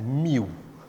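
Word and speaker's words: mu: यहाँ पे जो कांस्टेंट है वो ग्रीक सिंबल कुछ ये है, which is pronounced as म्यू।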